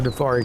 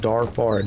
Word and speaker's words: Darfari: You're in a Dafari camp. Or I should say, Darfari. That's how it's spelled. Darfari.